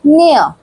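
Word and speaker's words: ne'er: Here its pronunciation is near.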